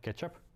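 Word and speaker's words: k3sup: that called k3s up pronounced like ketchup ketchup is actually initiated by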